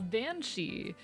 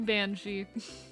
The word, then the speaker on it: banshee: for those unaware uh bansi is an anglicanization of uh bii meaning woman fairy and yes it is spelled b e a n space s i d h E Bei turned into bansi I love linguist I